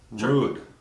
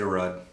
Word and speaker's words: Rud: Rude. The Rude Brothers. The Rude Brothers. Right. Some people say Rudd. It's rude.